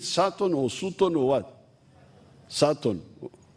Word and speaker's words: Sutton: Sutton. This is the problem with the English. They write U, they say A.